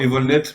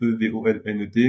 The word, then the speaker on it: Evolnet: Alors, Evolnet, ça s'écrit comme ça se prononce, Evolnet.